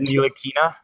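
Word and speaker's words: Ntilikina: with that last name isn't it neina like the tea is silent then they would have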